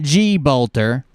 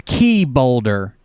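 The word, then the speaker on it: Czebotar: boulder yeah that's it it's not it's not g bolter it's key boulder jessie key boulder her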